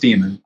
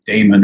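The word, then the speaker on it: daemon: the Greek sense the d-a-e-n-e-m-o-n which is just pronounced demon a lot of people like to say Damon or whatever but it just it's just demon as well um and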